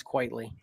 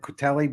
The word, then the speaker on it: Whiteley: And it's Frank Whiteley. That's the name you mispronounced. After all that tough pronunciation you had, it's Whiteley. Yeah, it's Quayle. I always said Quitelli, but there's no way it's Quitelli in my head.